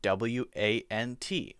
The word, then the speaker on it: want: One and want. I can hear the T sound at the end. But many native English speakers, if there's a T at the end, don't say T at the end.